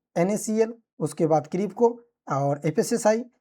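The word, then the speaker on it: FSSAI: एफएसएसआई में vacancy आती है, जिसे बहुत लोग लोकल लैंग्वेज में फसाई कहते थे, हालांकि ये प्रोनाउंसिएशन सही नहीं है, हम इसे एफएसएसआई ही कहते हैं।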